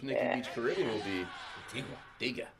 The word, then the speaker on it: Antigua: Beach Caribbean will be Antigua. Antigga. It's Anti Anti Antigga. Or is it Antigua? Antigga. Antigga. Well, it's spelled Antigua, but it's they say the locals say Antiga.